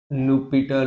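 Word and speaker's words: L'Hôpital: अच्छा, बाय लुपिटर rule, h silent हो जाता है।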